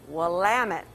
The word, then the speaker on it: Willamette: i must correct us one thing we are pronounced willamette as in willamette damn it oh okay all